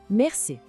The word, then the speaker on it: merci: Primeiro, merci. Repare que o R é bem suave, vem lá da garganta.